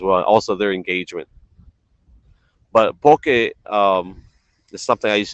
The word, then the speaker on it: poke: is spelled p-o-k-e and a lot of people tend to mispronounce it and they say poki which telling poki is